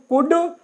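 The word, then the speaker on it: would: है देखें यहां पर दी से पहले जब ल आएगा तो ल साइलेंट होगा इसमें भी साइलेंट होगा इसमें भी साइलेंट होगा तो हम इनको पढ़ेंगे वुड वुड सोल्ड और यह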